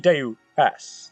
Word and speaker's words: Deus: I've been pronouncing it Deuce all this time for some reason. It's supposed to be Deus, like Deus Ex Machina.